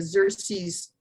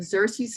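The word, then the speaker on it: Xerces: report to the parent organization which is the xerxes or it's that's spelled x e r c e s the xerxes society for insect conservation and it's a national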